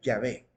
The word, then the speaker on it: Yahvé: a la conclusión que la manera más correcta de pronunciarlo sería Yahvé. ¿Por qué no Jehová?